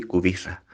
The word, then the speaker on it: Kubica: en la televisión pues se pronuncia y cubista porque pues porque la ce y la allí se pronuncia así se escribe así pero todas las palabras son llanas entonces excusas el polaco